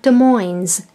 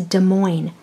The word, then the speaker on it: Des Moines: Iowa and it's not Des Moines the S is silent it's there but you don't say it it's a Des Moines Iowa and st.